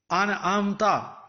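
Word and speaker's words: أَنْعَمْتَ: Alif zabar noon an. Ain zabar mim am. An te zabar ta. An'amta. An'amta. An'amta.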